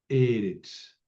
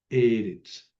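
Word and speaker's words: אֶרֶץ: Por ejemplo, eh, Eretz, tierra, Eretz. Se acentúa la primera y quiere decir tierra.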